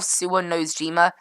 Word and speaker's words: Shimojishima: And then we've got this one here as well, Shimojishima. That's how you pronounce that.